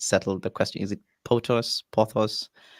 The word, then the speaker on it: Pothos: wait let's first settle the question is it potus pothos pathos that's how i pronounce it cool cool cool um yeah is